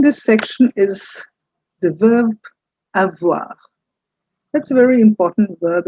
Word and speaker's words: avoir: So, have is the verb, and in French, it's called avoir. I've given you Hindi transliteration. It's avoir. That's how you pronounce except that that r is not the r. It's the French r.